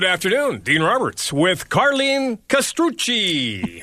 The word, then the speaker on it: Castrucci: And good afternoon, Dean Roberts with Carlene Castrucci. How's my Italian, Carlene? You did a very good pronunciation.